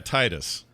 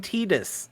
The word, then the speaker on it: Tidus: with the d yeah titus t yes definitely not titus because it's a d i'm not saying titus i'm saying tidus you are saying tedious